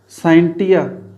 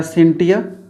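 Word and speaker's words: scientia: भाषा के एक शब्द साइंटिया या सिंटिया, प्रोनाउंसिएशन सिंटिया और साइंटिया दोनों ही बुक्स में लिखे जाते हैं, दोनों ही प्रोनाउंसिएशन किया जाता है इसका, सिंटिया या साइंटिया।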